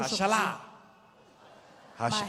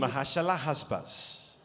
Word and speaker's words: Maher-Shalal-Hash-Baz: Mahashalah, Hashbaz. Maher-Shalal, It's the Hashbaz. longest name in the Bible. C'est le plus long nom dans la Bible. Mahashalah Hashbaz.